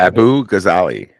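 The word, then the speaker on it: Abughazaleh: Abu Ghazali. That's how you pronounce it. Abughaz, as in zebra, Aleh. Abu Ghazali, or Ghazale.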